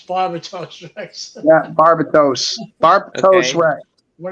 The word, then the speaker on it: Barbatos: Yeah, people pronounce it Barbados Rex. It's not. It's Barbados Rex. Yeah, Barbatos.